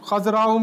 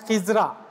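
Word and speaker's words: خضراء: Khazra'u means green. Like we used to say Gumbad-e-Khazra, the green dome. Khazra means green. Some people pronounce this Khazra as Khizra.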